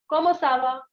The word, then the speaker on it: comment ça va: It is comment ça va? What is it? Comment ça va? Repeat after me. Comment ça va? Très bien. So comment ça va means how are you? Comment ça va is used for the informal situation.